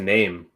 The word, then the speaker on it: Naeem: Naeem. Legend. His name is actually pronounced name.